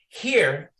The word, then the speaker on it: hir: Here is also pronounced like here and replaces the here, her, hers, him, his, they, theirs.